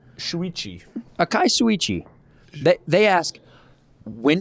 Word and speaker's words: Shuichi: This week we got Akai Suichi. You want to take a shot at that pronunciation? Shuichi.